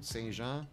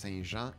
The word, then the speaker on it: Saint-Jean: For those who don't know, Saint-Jean, Saint-Jean. That's how it's said. It's pronounced, spelled in English, but it's pronounced Saint-Jean in French.